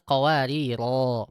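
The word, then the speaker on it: قواريرا: Ya, di kata qawariro yang kedua. Jadi jangan baca misal kanat qawarir itu salah. Harusnya kanat qawariro panjang.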